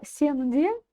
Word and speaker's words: сенде: Слово «сенде» мы читаем по аналогии со словом «менде». Сенде, менде, сенде. То есть «е» значит пардон, «е» значит «е», не Сенде звучать не может.